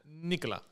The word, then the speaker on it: Nicolas: Ah, but because we want to fool foreigners in French, we don't pronounce most of the time the last conssonants. Okay, Nicola.